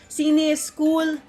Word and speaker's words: CINEISKOOL: i welcome you to the press launch of cine school is cool that's how you should pronounce it film lab and film festival for